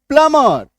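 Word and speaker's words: plumber: सी आर यू एम बी क्रम पी एल यू एम ई आर एम बी आर प्लमर। है ना? बी का उच्चारण नहीं होना।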